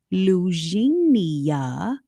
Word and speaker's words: Lugenia: Rod Wilson, who is the executive director at Lugenia.